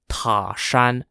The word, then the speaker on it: Tashan: set up a blockade at a place called Tashan spelled t-a-s-h-a-n which was a small village between